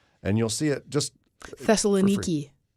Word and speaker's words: Thessaloniki: And you'll see it just Thessaloniki. Is that how you pronounce that? Now, in modern day, yeah. But wasn't it Thessalonica Yeah. before? In King James.